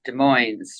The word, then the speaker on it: Des Moines: It's pronounced Des Moines, right?